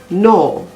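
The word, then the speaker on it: gnaw: examples are cosine c-o-s-i-g-n rain r-e-i-g-n nat g-n-a-t no g-n-a-w gnome g-n-o-m-e h is usually silent if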